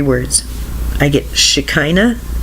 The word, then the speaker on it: Shekinah: get 3 I get 3 words I get Shekinah spelled sh e ki n aah Shekinah that's how I pronounce it Shekinah and I got four four